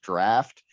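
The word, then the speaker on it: draught: I must say that my girlfriend also did not believe me when I said that word is pronounced draft.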